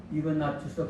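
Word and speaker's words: Ignatius: 시리아 안디옥의 주교인 이그나티오스, 헬라어로는 이그나티오스라고 하고 라틴어는 이그나티우스입니다. 영어도 이그나티우스 발음하는데 이것을 또 천주교에서는 에스파니아 언어로 바꿔서 이나시오 이렇게 또 지난 시간에 말씀드린 것처럼 바로 셈족, 또 게르만족, 또 북유럽이 되겠죠.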